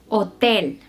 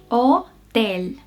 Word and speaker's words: hotel: En español solemos decir que la H es muda. Nunca se pronuncia, a menos que antes